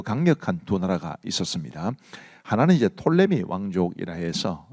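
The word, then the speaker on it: Ptolemy: 하나는 이제 톨레미 왕족이라 해서 어떤 분들은 프톨레미라고 하기도 하는데 피가 묵음입니다.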